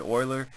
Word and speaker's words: Euler: and these are called Euler diagrams named after the scientist and mathematician Leonhard Euler some people call him the master of all mathematicians his name sounds like the word oil but it's spelled e